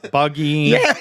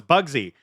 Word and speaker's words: Buggy: Luffy uh Waffle Smoker Smoker Alva Alva Buggy. Uh, which it's funny cuz when my wife and I were watching season 2, I was like, "Oh, it's Bugsy."